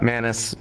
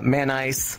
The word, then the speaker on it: Manice: gonna say and then everyone comes up with different ways how to pronounce my name uh through all the years uh manus mancy is the big one maurice maniac uh mayonnaise uh man ice nice yeah that's how i pronounce it anything i'll i'll answer